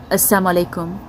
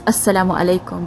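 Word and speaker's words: as-salamu alaykum: indian muslims it's not assam alaikum it's assalamu alaikum but the reason that this is so important is when you accidentally say assam alaikum and you you miss the lamb out and you say assam rather than assalam when you say assam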